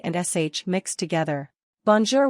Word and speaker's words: bonjour: and Sh mixed together bonjour which means hello is pronounced bone zor J mapel means my